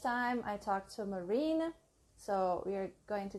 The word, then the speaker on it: Marine: this Jana and I think wait am i pronouncing your name right marine yes perfect I might say yours right Erica